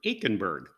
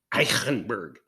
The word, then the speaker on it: Aichenberg: grinner wetlander comes from aikenberg it's probably pronounced in a very richly germanic way eichenberg but i'm not going